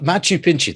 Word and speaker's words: Machu Picchu: is machu picchu yes uh machu picchu that's how it's pronounced yeah well that i